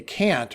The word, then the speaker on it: Kant: Can't. And one of my friends and long-standing, let's say, connections noted the auto-generated transcript put K or lowercase k in most places. Clearly, you say can't.